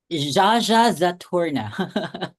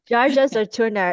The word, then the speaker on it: Zsazsa Zaturnnah: How do you pronounce it? Zsazsa Zaturnnah. Zsazsa Zaturnnah.